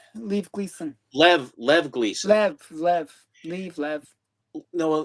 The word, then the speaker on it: Lev: there's no and the I but know I there's no extra E. If there was an extra E, it would be Leave, but because there isn't, it's just Lev Gleason.